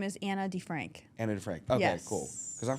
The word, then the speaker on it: DeFrank: this was fire shout out now help me pronounce the full name Anna D oh my name is Anna D Frank and Frank okay cool because for some reason